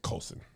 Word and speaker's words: Colson: She also said Sydney Colton, and I didn't have a heart to tell her. What is it? How you say it? Colson. Oh, it's an S?